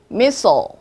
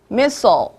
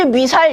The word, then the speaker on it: missile: 영어로는 missile. missile. 자, 한국말로는 미사일이라고 하죠. 하지만 여러분들이 이거를 미사일, this is 미사일 이러면은 베리 곤란해.